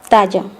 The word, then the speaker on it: talla: The letter ya, the double L sound in Spanish is pronounced the same as Y in Spanish. Ella, talla.